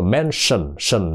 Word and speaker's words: mention: có chi nha đó cách phát âm của nó don't mention nó phát âm là mention đó nha nó là sờ sờ giống như ánh sáng của người Nam mình đó mention là đề